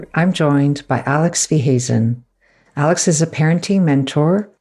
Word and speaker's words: Weehuizen: So I'd love to welcome on today's episode, Alex Weehuizen. Alex, I hope I haven't butchered your surname.